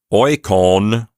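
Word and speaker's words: οἴκων: But oikon, the genitive plural form, has that long vowel in the last syllable.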